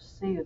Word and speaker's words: Sioux: cheyenne crow comanche and sioux now notice that word sue the x is silent the plains was also